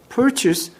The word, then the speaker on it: purchase: 이 발음이 여러분 이 chase, 얘는 chase야. 누군가를 추적하다라는 단어예요. 하지만 얘는 purchase로 발음하셔요. purchase. 그래서 구입하다, 사다란 뜻이야. chase와 purchase 구별을 하세요.